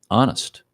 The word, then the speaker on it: honest: Honest. H is silent.